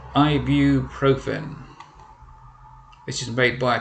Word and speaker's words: ibuprofen: first one is that one and this is pronounced ibuprofen this is made by a company called heritage